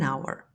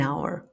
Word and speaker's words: hour: Our is just one of many words in English language that has a silent h.